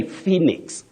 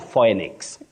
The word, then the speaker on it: Phoenix: also remember that you say Phoenix Phoenix not phix not Fenix great Willis I like